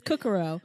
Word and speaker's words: Cucuro: Because it's Kukuro, but it's spelled Cucuro, and they would be like Kukuro.